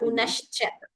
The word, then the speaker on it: पुनश्च: Please note that pronunciation. It should not be heard as sa, as sha. Punascha.